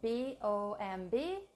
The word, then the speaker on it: bomb: here bomb is spelled B OMB but we don't pronounce the last B it's silent so it's just bomb